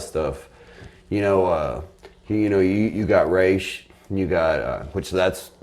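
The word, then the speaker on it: Ra's: You know, you got Raish. You got, which that's how you fucking pronounce it.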